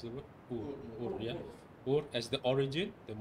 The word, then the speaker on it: Ur: So it's not just about Iraq, the recognition of Iraq or Ur, how do you pronounce the word? Ur, yeah.